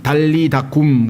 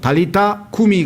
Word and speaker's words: 달리타 쿰: 이미 달리다쿰 이렇게 하는데 실제 영어 발음으로 치자면은 달리타 그러면 소녀야 쿰이 일어나라 이렇게 해서 달리타 쿰이 해야 되는데 아예 붙여가지고 달리다쿰 해서 아예 용어처럼 굳어져 있죠.